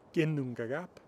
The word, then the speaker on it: Ginnungagap: The name of the primordial void before creation is Ginnungagap, not Ginnungagap or something like that. The stress is always on the first syllable.